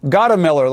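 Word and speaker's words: Gottemoeller: And my producer was saying, Gottemiller, like Gottemiller Light.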